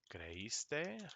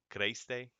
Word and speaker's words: creíste: ¿Creíste las noticias? Because it still needs a little kick, because otherwise it would just be too much of one syllable, like creíste, creíste. We need to say creíste.